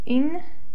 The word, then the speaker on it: intereses: accentuation, which says that if a word ends with a vowel, an N or an S, we stress the next to last syllable. And this word obviously ends with an S, so the syllable that we stress is this one.